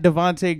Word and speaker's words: Devontae: Before I go, guys, it's Instagram and Twitter is at Devontae Green, at Devontae Green. Spell that.